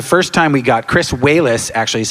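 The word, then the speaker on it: Walas: it for the first time we got Chris whis actually is how you pronounce his name uh and Rick Baker and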